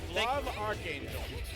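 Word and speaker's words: Vlov Arkhangel: How do you say this guy? Vlov? Love Archangel. Yes.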